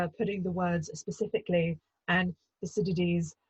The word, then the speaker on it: Thucydides: she specialises in ancient Greece, and more specifically, Thucydides.